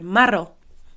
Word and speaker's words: marró: It's got that tricky sound in there, the double r as well, which is a like r. You have to try and roll your r's. So, marró or marrons.